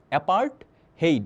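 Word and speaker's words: apartheid: আচ্ছা দেখো তো, এই যে অ্যাপার্টহেইড যে, দেখো এটাকে তোমরা উচ্চারণ করবো হচ্ছে অ্যাপার্টহেইড মানে বর্ণবাদ।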